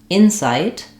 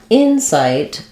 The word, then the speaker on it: insight: different rhythms so in Insight uh the noun we have first syllable stress the in is longer and the sight is shorter Insight in inight the